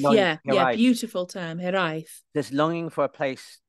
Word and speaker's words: hiraeth: And you have this Welsh term, which I'm going to mispronounce, because is it hiraeth? This hiraeth, kind of hiraeth. Beautiful term, hiraeth.